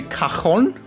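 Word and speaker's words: cajón: I think in German we say kahon. I think in German we say kahon to the thing. So very we pronounce it in a very Spanish way.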